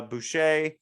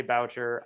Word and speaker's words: Boucher: and um Anthony uh Boucher I'm finally saying it right I always say voucher I know it's Boucher um my entire chai life calling him Anthony voucher okay yeah I agree